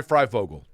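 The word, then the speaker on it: Fryfogle: Ty Freifogel. Did I say his last name correct? Yeah, it's just like it's spelled.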